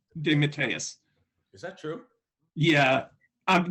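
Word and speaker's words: DeMatteis: was a i'm sorry he now he now pronounces his name demeteus is that true yeah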